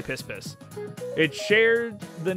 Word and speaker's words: Piss Piss: Anyway, that river is in Nicaragua, and Piss Piss is pronounced Pi Pi. Oh, I'm still gonna say Piss Piss.